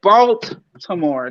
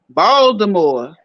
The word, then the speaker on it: Baltimore: They don't say Baltimore. They don't pronounce. Ain't no T. It's like a D up in that joint. Baltimore.